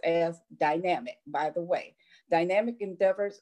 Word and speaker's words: Dynamik: and public figures through her company, Dynamik Endeavor, pronounced as Dynamik, by the way.